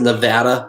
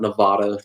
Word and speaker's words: Nevada: It's pronounced Nevada, by the way, not Nevada.